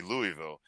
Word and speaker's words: Louisville: optional, I think there's a better chance that Louisville shows up with that.